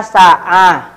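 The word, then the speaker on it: ساعة: Lagi teman-teman, nah ini Hanif ya, Hanif lihat nih Hanif, ini ada kata sa'ah. Nah, lihat tamar butonya nih, tamar butonya dibaca pakai sa'ah, pakai huruf h.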